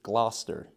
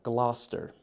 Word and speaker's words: Gloucester: near the East Coast great beaches this is gler uh gler all righty uh a little bit more Northern